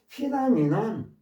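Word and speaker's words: phenomenon: contemplate 심사숙고하다 고려하다 피나미는 현상 무지개 현상 같은 거 있죠. 현상 피나미는 이게 무성은 푸로 발음된다는 거 피나미는 무성은 푸 그런데요 피나미나는 무슨 현상 이런 거예요.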